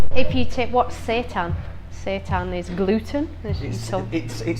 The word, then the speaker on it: seitan: It's Seitan. I don't even. Some people say sation.